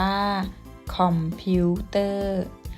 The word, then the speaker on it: คอมพิวเตอร์: คริสต์ศักราช คอมพิวเตอร์ อ่าน ว่า คอมพิวเตอร์ นัก เรียน สังเกต คำ ว่า คอมพิวเตอร์ นะ คะ ซึ่ง คำ ๆ นี้ จะ ไม่ มี รูป วรรณยุกต์ เลย แต่ เวลา อ่าน เรา จะ อ่าน ออก เสียง วรรณยุกต์ ด้วย นะ คะ เพราะ อะไร เพราะ